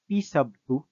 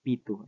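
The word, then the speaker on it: P₂: p2 okay or ah it is by the way pronounced as p sub2 yan po pero alam ko um medyo malala we kayo so Uh allow us to pronounce this as p2 Ayan po but again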